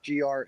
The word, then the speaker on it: Grae: And it's all gray buck fishing. It's Grae. It's spelled a little different than you might suspect, but you can find me pretty easily.